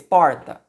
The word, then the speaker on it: porta: A última sílaba é o tá e a penúltima sílaba é o por. Porta. Então, a palavra porta é uma palavra paroxítona porque a sílaba tônica é o por, é a penúltima sílaba.